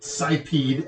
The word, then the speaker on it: Sipeed: It's no, the company is, I've never known how to pronounce this. I pronounce it Sipeed, S-I-P-E-E-D.